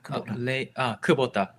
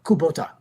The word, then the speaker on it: Kubota: Pronounce it in English. Kubota. Kubota.